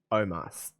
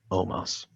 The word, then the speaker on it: Omos: Because they spell it O-M-O-S. So it's so Omos. I look at that and I say Omos. Omos. But they say Omos like it should be an A.